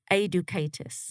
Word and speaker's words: Aidukaitis: last name is pronounced a ducatus okay so it's close it's kind of like educate us as a kind of